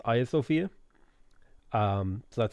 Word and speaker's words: Hagia Sophia: religions who have made it beautiful there's the hagia sophia and i was told it's pronounced aya sofia um so that's how i pronounce it now